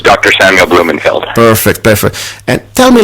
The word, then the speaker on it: Blumenfeld: Samuel Blumenfeld.